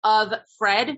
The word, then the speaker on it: Offred: should be capitalized you can see that like of Fred right his name was Fred so she is